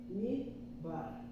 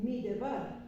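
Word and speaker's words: מדבר: ¿Por qué no se lee midebar? No se lee midebar porque este Sheva va precedido de hidek, que es una vocal breve. Entonces el Sheva es quiescente como este Sheva cuando precede una vocal breve. Midbar. Como esta es breve, esta no se lee, no se dice midbar, se dice midbar.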